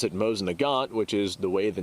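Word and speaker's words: Mosin–Nagant: the gods now I have seen this rifle pronounced Mosin nagance on a like very regular basis and whenever I pronounce it Mosin Nagant which is the way the name is uh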